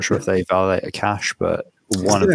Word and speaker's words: Akash: I keep saying Akash just because I'm pronouncing it the English way.